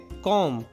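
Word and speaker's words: comb: कंघी को हम इंग्लिश में कहते हैं कॉम। इसमें बी साइलेंट होता है, तो हम इसको सिर्फ पढ़ेंगे कॉम।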